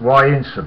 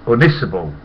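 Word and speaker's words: Ynysybwl: WL there a pit and Jordi said it's pronounced why in I say is it hell come on Clever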